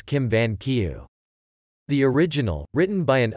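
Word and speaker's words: Kim Vân Kiều: novel Jin Yun Chao known in Vietnamese pronunciation of Chinese characters as Kim van kieu the original written by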